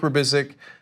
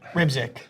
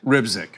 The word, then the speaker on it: Rybczyk: Perry Meade, Rybczyk, I'm sure I said that last name wrong. Mahmoud El-Farra. So, how do you say it? Rybczyk. Rybczyk.